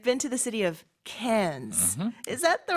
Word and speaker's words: Cairns: I've been to the city of Cairns. Is that the right pronunciation? That's right, Cairns. Australians don't really pronounce the R a lot.